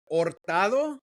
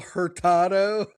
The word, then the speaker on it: Hurtado: to pronounce it, but Ortado. Yeah. The H is silent. Yeah. Yeah. Then why have I always said my cousin Gabriel Herado?